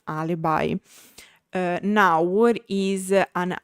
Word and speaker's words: alibi: who don't know is a Latin word and that's why also English took it as a lone word and of course with the English pronunciation alibi. Uh now what is an alibi or alibi?